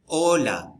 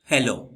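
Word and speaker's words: hola: कि ल आचे ओला ओला को हम होला नहीं कहेंगे ओला एच जो है ना वो खामोश रहता है हमेशा स्पेनिश में एच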